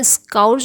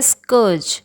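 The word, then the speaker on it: scourge: इसका प्रोनाउंसिएशन स्काउर्ज नहीं होता है, इसका होता है स्कर्ज।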